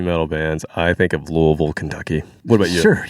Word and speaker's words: Louisville: Louisville? I can say it. Louisville. Louisville. It's not Louisville. It's not Louisville. It's Louisville. It's like Illinois.